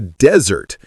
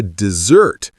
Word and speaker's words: dessert: Imagine you're in a coffee shop and you say, "I'd like a desert." instead of, "I'd like a dessert." You just told them you want a sandy wasteland, not a chocolate cake.